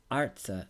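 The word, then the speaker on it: ארצה: in the first syllable the new form is arts with the accent still in the first syllable as indicated when a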